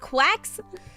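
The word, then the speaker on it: GQuuuuuuX: It's pronounced quacks.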